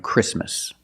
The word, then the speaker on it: Christmas: And when you see T between consonants, it's silent. Don't pronounce the T. If you link the sounds, do not pronounce the T. Examples, exactly and Christmas.